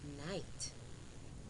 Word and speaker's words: knight: eight now let's review these words with silent gh knight n i g h t night do d o u g h slay s l e i g h eight e i g h t eight now boys and girls